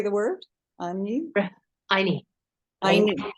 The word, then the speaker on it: Anyi: Anyi.